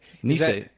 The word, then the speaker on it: Nisei: Nisei. Is that what you thought? Yeah. Knee hyphen S-A-Y.